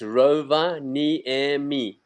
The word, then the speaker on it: Rovaniemi: of all, is that Finnish is the only language in the world that pronounces every letter of the word. So it's Rovaniemi. It's exactly the word as you read it.